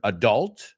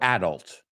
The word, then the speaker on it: adult: And it's funny because you can say the word adult or adult.